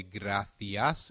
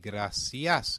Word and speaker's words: gracias: C, when followed by E or I, is pronounced as the or thi in European Spanish, and se or si in Latin American Spanish. Hence, we will say gracias in European Spanish and